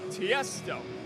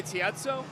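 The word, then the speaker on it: Tiësto: Tiesto. What, did I say Tiezzo?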